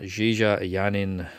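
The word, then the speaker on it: JeeJa Yanin: starring and we're gonna say her name right Jie Jie a yarn in who was from chocolate who I think we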